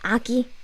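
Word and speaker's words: 아기: move on yes baby baby eggy is actually the correct way to say baby is aki aki but eggy is actually a dialect but it's still very commonly used for everyone eggy eggy but correct standard form is aki when you search for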